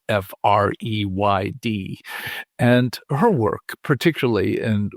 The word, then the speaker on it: Freyd: Most of this began with a University of Oregon psychology professor by the name of Jennifer Freyd, or Freyd, depending on your pronunciation of her last name, which is Freyd.